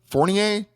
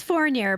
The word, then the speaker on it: Fournier: featured guest is fornier did I pronounce that right ah it's forer but I take for sure thanks for being